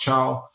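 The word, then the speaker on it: Thiaw: It'll probably be between Gehi, Chow, or Malik Thao, as you guys know him, but his surname is pronounced Chow.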